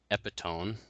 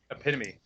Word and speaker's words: epitome: from Hell character and epitone to epitome oh epitome okay there we go the